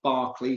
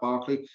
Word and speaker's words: Berkeley: But first one is, so name's spelt Berkeley, but it's pronounced Barkley. So give me a shout, just shout Barkley.